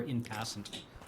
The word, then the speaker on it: en passant: I mean, I only found out recently that en passant is pronounced in passing, or in passant.